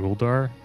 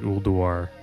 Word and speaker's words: Ulduar: I call it Ulduar, but it's like Ulduar. You have to kind of pronounce the U a little bit.